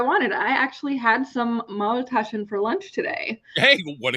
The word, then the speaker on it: Maultaschen: So what the hell is Maltischen? Maultaschen. Maultaschen.